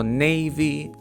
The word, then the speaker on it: Navy: Слово Navy. Читається Navy. Navy, а не Navy.